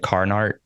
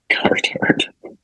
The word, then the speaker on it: Carhartt: the factory, Yeah, but it's not like Carhartt, it's like Carnart. yeah. It's spelled with a K. And one T. Yeah, Cartart. Carhartt.